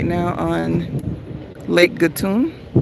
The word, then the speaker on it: Gatun: So, what's going to happen is we are right now on Lake Gatun, Gatton, G A TU N, however you pronounce it. And that body of water over there, Gatan, thank you.